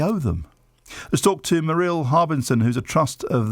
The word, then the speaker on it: Merrilee: Have I pronounced your name correctly? It's actually Merrilee.